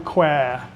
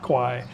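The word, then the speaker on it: แคว: Mae Nam Khwae is is the actual correct name for not Kwai. Kwai in Thai means buffalo.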